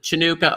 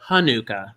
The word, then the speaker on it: Hanukkah: which is yes and there are actually two ways to pronounce the chanukah or hanukkah you know sometimes it's with the ch sometimes just the age and it's very it's